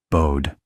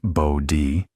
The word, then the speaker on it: Bode: Bode, whose name is pronounced Bode, even though everyone wants to say Bode like the English word, developed a different but related graphical technique.